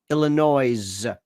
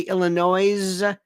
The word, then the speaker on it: Illinois: how you pronounce it Illinois but I hear somebody say illinoise I want to scream okay so today is